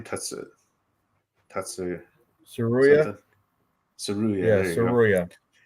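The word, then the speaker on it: Tsuruya: Saruya.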